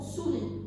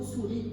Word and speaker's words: souris: Comme par exemple pour le mot souris. Le mot souris contient un S à la fin, mais le S est une lettre muette.